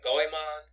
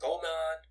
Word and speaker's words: Goemon: Yeah, if I can get anything to the audience today to stick, it is The Mystical Ninja, starring Goemon, or Gomon, or Gimon, however you want to pronounce his name, is the blue-haired ninja with the pipe weapon.